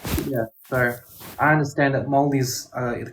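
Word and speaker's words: Māori: It's not pronounced Marys, it's pronounced Moldies.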